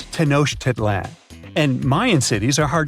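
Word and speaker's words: Tenochtitlan: It's Tenoshedlan. And Mayan cities are hard to pronounce too.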